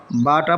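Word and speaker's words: باء: বাটা পড়তে একটু টান হবে।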